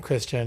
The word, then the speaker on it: Christian: this like really pretentious character that's introduced named Christian and everybody mispronounces his name as Christian.